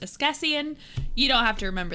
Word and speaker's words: askesienne: This is pronounced Ascasian.